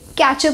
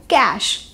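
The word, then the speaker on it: cache: अब हमारा sixth word, इसको भी हम इसकी स्पेलिंग की वजह से कैचर प्रोनाउंस कर देते हैं, पर इस वर्ड की सही प्रोनाउंसिएशन है कैश। इसमें जो हमारा सी एच है, हम उसको श प्रोनाउंस करते हैं और जो हमारा ई है वो इसमें साइलेंट होता है, तो इस वर्ड की सही प्रोनाउंसिएशन है कैश।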